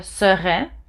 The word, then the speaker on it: sera: For he will be is il sera. No S. Il sera.